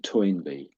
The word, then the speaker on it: Toynbee: And Toyinby, that's pretty much exactly what you said, ToyinB.